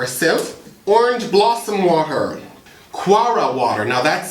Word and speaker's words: kewra: a strain or a Sie orange blossom water quara water now that's spelled k e w r a I'm going